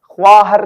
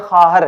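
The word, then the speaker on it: خواهر: वाव अलिफ हे रे खा हर खहर बहुत सारे लोग जो है ख्वा हर पढ़ते हैं प्लीज ऐसा ना करें ये गलत है ख्वा हर नहीं है खहर है ठीक है मींस अ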